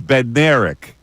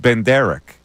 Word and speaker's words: Bednarik: It's Bednarik. B-E-D-N-A-R-I-K. Yeah, you said Ben Derek. I'm not hearing the difference. No, actually, keep going. This is a good back and Hold forth. a Here. second. You pronounce it, Mike. Then you pronounce it, Bill. Mike, you pronounce it, then Bill. Bednarik. Chuck Ben Derek. You keep saying Ben Derek. Chuck Ben Derek. It's not Ben Derek. It's B-E-D-N-A-R-I-K.